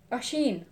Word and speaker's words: Oisin: But since you're new, do you pronounce your name Oisin? Or Oisan? Or Oisun? I just want to be on the safe side before I start pronouncing it wrong. Ashin. Oh, I like that name.